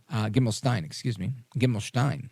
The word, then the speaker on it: Gimelshteyn: Gimelshteyn is how it's pronounced here.